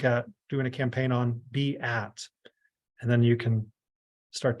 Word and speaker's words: Beatrice: pronunciation of our name a lot of people would look at Beatrice and say well isn't that Beatrice well it's be at and so now we're